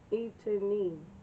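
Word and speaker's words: Étienne: It's spelled Etienne. That's right. That sounds right. Etienne.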